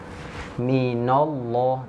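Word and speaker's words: مِنَ اللّٰه: minallah minallah minallah ya Harusnya kan ditipiskan caranya seperti apa agar tidak ikut-ikutan tebal nah bacanya satu satu dipotong aja enggak apa-apa kalau untuk belajar Enggak apa-apa Mi mina mina baru lafal Allahnya tebal Mina nall minallah huwallah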